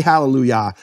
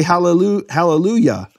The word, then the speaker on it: Hallelujah: In fact, in English churches, they pronounce the Yah of Hallelujah correctly. They don't say Hallelujah. They say Hallelujah.